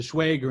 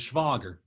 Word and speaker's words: Schwager: she always told me how i pronounced my last name wrong i americanized it to schwager instead of schwager and so um i